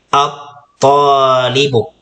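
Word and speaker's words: الطالب: So, ang pagbigkas sa kanya ay at-talibu. So, at-talibu. So, ang ta dito ay may harful mad. Yung alif, mayroon siyang long vowel. Kaya kailangan mahaba din po ang pagbigkas natin sa kanya.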